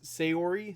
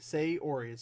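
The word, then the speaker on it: Sayori: keep forgetting us a her name is say Ori say or it's just the two words say an Ori say Ori right I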